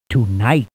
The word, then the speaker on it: tonight: in the proper order remember the silent letters g h in the word tonight potions are rare and